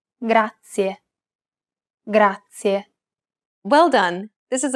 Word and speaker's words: grazie: It's pronounced grazie, This word uses the rolled R sound. grazie.